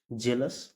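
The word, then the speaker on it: jealous: ए पवन weapon पढ़ेंगे जी ई ए एल ओ य एस जेलस rule number nine है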